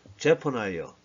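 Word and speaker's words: Zephaniah: 영어 발음으로는 제퍼나이어, 스바냐와 좀 많이 다르죠.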